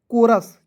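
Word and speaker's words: chorus: कोरस चोरस नहीं पढ़िएगा।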